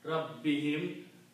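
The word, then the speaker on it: ربهم: And for the tajweed pronunciation, to make it easy on the tongue, we also pronounce this hum as him.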